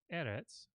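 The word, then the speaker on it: ארץ: I mean there are words like edits the word for earth or land that the accent falls on not the last syllable right not the final syllable so in those cases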